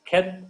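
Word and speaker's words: חית: So transliteration is CH in Bach, Bach. So that K pronunciation is there, Bach. Then meaning of this Keth is fenced in, destroy, grace, separation, tent wall.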